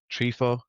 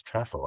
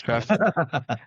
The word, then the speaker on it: Trefo: Hey, I looked up your LinkedIn, Chris, and I saw your Trifo, if I'm pronouncing that right. Can you tell us a bit more about that? You're not. It's Trefo. I said it myself. Trefo.